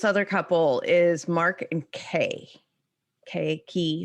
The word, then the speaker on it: Key: couple is mark and kay okay key her name is spelled k-e-y but i think they pronounce it k something like that she's